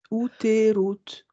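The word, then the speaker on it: Utherut: U-T-H-E-R-U-T. Outerut. Comme ça. Alors, attends. Pardon. U-U-U-U-T-H. U-T-H. E-R-U-T. C'est Outerut, ça donne ça comme de prononciation. Ok.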